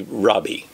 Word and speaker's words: Rabbi: Rabbi by the way if I was a Jew I'd probably say Robbie but I'm going to pronounce it the way what we're used to do not be called Rabbi for one is your